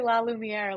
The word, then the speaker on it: La Lumiere: I always say La Lumiere, like Beauty and the Beast. Extra French.